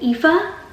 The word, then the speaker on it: Aoife: culture and stuff is the names and how they look one way, but you pronounce it a totally different way. Like Tig is spelled like this, and Aoife is spelled like this.